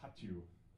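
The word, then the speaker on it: Hattyú: correct me it's called hatu almost almost you have to make it sound like a sneeze like and then I then I got to correct so anyway the name of the song is hatu it's this it's my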